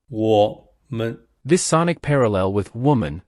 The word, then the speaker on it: 我们: What's interesting is that the second syllable of woman aligns with the pronunciation of man, which we use in 我们 to signify we or us. 我们.